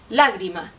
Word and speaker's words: lágrima: pienso en la palabra lágrima la palabra lágrima tiene un ritmo que es pam pam es decir tiene tres sílabas y está acentuada en la primera sílaba por lo tanto es